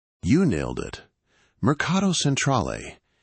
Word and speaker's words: Mercato Centrale: It's pronounced Myrr. C A H to Cra. You nailed it. Marcato Centrol.